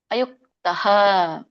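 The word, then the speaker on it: ಅಯುಕ್ತಃ: ಸೂತ್ರೀಚ ಕರ್ತಾ ತಾಮಸ ಉಚ್ಚತೆ ಇದರ ಒಂದು ಉಚ್ಚಾರಣೆ ಅಯುಕ್ತಹ ಅಲ್ಲಿ ಮಧ್ಯದಲ್ಲಿ ಯಾವಾಗ ವಿಸರ್ಗ ಬಂದಾಗ ಅಯುಕ್ತ ಅಯುಕ್ತ ಸ್ವಲ್ಪ ಮಾತ್ರ ಹ ಬರುವಾಗ ಹೇಳಬೇಕು ಅಯುಕ್ತ ಪ್ರಾಕೃತ ಪ್ರಾಕೃತ ಸ್ತಬ್ದಹ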